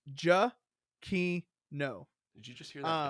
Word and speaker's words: Giacchino: He like has the pronunciation. It's Giacchino.